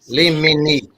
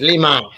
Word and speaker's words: limine: No, that's not how it's pronounced. Limini. No. It's Limine. Oh God, we having a difficulty time with this word.